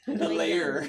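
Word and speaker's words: lair: my phone all right the way you're articulating that makes it sound like it's l-a-y-e-r it's l-a-i-r it's two-syllable it's a layer hey guys let's go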